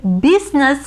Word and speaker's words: business: ඒ business කියන වචනේ. business කියන වචනේ I අකුර silent වෙනවා.